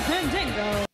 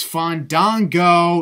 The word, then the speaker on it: Fandango: Time to present Fandango. It's Fandango, not Fandango.